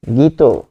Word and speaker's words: গীত: এরপর আছে যেমন একটা যদি থাকে, সেটা হচ্ছে গীত, তাহলে গ দীর্ঘ ইকার ত, এখানে গ উচ্চারণটা হবে দীর্ঘ ই দিয়ে, যেহেতু বানান আছে, উচ্চারণ হবে রস্বই দিয়ে, গ রস্বই গি, আর ত ওকার তো, গীত, এরকম ভাবে হয়ে গেছে।